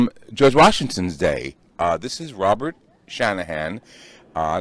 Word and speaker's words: Dey: is the dye mansion it's pronounced day in English dye in Dutch and they invited the